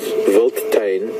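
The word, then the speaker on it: wildtuin: of South African word mentioned the word is volain this is the way it's pronounced but it's it's written if I had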